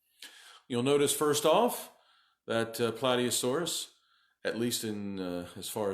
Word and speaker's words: Plateosaurus: is its name for the longest time I pronounced incorrectly I refer to it as play D asaurus play D asaurus because the word is spelled